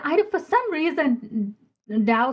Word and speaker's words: Tao: don't for some reason Dow spelled as t even though it is it is pronounced d makes sense to me because that's a paradox in itself to me.